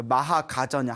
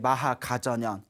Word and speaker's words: 마하가전연: 그 마하가전현, 한문으로는 마하가전현 스님 불렸고 인도에서는 마하까짜야나, 마하까짜야나 스님이라고 불렸죠. 인도 발음하고 이제 또 중국 한문 발음하고 좀 틀리지 않습니까?